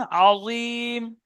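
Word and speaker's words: عظيم: আজিম আইন বের করেন। আজিম। আর মুখফুর করতে হবে।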